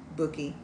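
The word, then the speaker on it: Bewki: Bookie. Bookie. Pookie.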